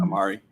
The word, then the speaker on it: Omari: And Omari Hardwick. Is that how you pronounce his name? Mhm. Amari.